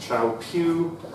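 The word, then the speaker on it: Kyaukphyu: blue dot on the left-hand side, which is pronounced Chao Phu.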